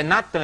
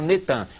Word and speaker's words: Natan: No dia 4 de novembro de 2002, lança o nome do ex-primeiro-ministro de Al-Shorur de Israel, Netan, é Natan, eles já fizeram o sincretismo, botaram Netan, mas é Natan e Arro.